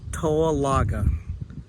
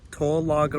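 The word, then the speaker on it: Towaliga: river behind me here is called or is pronounced TOA laga tolaga River and then as I pan around here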